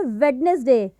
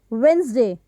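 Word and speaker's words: Wednesday: इट, and that is वेंसडे। ये जो डी की साउंड है वो जब हम इसको प्रोनाउंस करेंगे तो वो नहीं आएगी, तो इसका जो करेक्ट प्रोनाउंसिएशन होगा वो होगा वेंसडे, नॉट वेडनेसडे।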